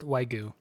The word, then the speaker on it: Wagyu: It's pronounced Wagyu.